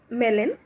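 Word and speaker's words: Melin: गया था बाय अ मेलन अब आई थिंक इसे मेलेन प्रोनाउंस करेंगे mister मेलन जी एम ई एल आई एन तो मेलेन द्वारा अ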